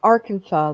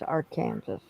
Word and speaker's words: Arkansas: No, that's Arkansas. The our Kansas River is our Kansas.